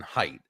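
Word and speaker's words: Haidt: um uh Professor Jonathan height uh it's spelled ha a i g HT the pronounce is it height it's called The Righteous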